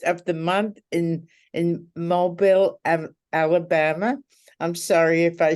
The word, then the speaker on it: Mobile: been around longer than mobile phones and it's pronounced mobile I was oh you but no one knows